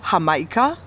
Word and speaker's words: Jamaica: don't know either uh Mexican people call it hamaika and it's spelled like Jamaica right but Caribbean people say